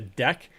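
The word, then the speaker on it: deque: u e u e d e q u e by itself is a deck and that is a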